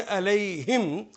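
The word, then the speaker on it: عليهم: लेकिन या की वजह से इसको प्रोनाउंस करेंगे अलैहिम ज़ेर के साथ, ताकि अलैहिम, या के बाद ज़ेर ही आएगी।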